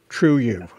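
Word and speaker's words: Triệu Ẩu: This Can you spell that name? Yes. Yeah. T-R-I-E-U first, and then A-U. A-U. True E-U. True U.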